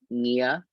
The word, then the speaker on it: Nia: by he him his my artist name is nia it's like yeah in vietnamese but it it's spelled differently so non-asian people can